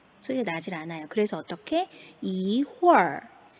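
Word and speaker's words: 一会儿: 이홀, 네, 이렇게 소리가 나게 됩니다. 무튼 우리 친구들이 지금 단계에서는 어떻다고요? 뒤에 R이 추가가 돼 있으면 이거 얼화하라는 뜻이구나. 혀를 말아서 마지막에 하고 발음하라는 거구나.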